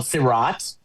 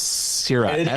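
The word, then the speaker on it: Sirāt: It's called Sirat. I guess that's how I pronounce it. Yes, Sirat.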